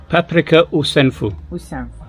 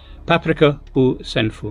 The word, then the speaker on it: paprika u senfu: Paprika u senfu. Did I pronounce that right? Yes. Shall I say it again? Paprika u senfu.